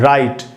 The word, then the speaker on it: write: कैसे, आपको याद आ रहे होंगे कुछ एक वर्ड्स, जैसे ये वर्ड है दोस्तों राइट, WRITE। अब इसमें W साइलेंट है, W के बाद R है, W वर्ड की बिगिनिंग में है तो यहाँ पर W साइलेंट है।